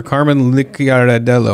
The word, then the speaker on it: Carman Licciardello: Famed Christian pop legend and rapper Carman Licciardello.